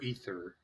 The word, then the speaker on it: aether: is it's 20 minutes is it pronounced aether or ether ether ether it's like final fantasy all right i was